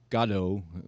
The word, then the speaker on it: Godot: Two fellows who are waiting for Godot or Godot, depending on how you pronounce it, and it's an absurdist play.